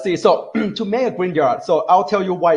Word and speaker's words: Grignard: kind of say like g r i in like green and at y after in so green yard reagent that's how they call they call them okay uh don't ask